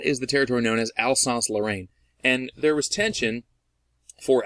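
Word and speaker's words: Alsace-Lorraine: that people sort of mispronounce frequently but it's pronounced Alsace Lorraine okay and if you're like dude I don't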